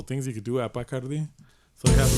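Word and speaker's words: Bacardi: I saw you went to Bkardi. Uh Bardi.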